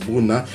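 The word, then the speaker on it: Brunner: Paris Bruna parce que la bonne prononciation c'est ça Paris Bruna et je vais même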